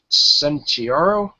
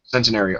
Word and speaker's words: Centenario: on the engine yeah he is a Lamborghini Santio is that how you say it sario you say that centenario okay thank you so yeah and uh someone